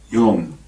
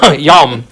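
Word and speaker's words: יום: to pronounce it, although I can have him pronounce it. Yom. There we go. Yom.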